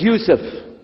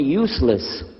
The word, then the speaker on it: Yusuf: work on it inshallah my name is Yusuf can you say Yusuf let me say Yusuf you're very good I wish you teach my wife she keeps mispronouncing it she calls me useless from the left now